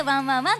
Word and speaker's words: ONE＋ONE＋ONE: けども、英語でワンプラスワンプラスワンと書いてワンワンワンと読みます。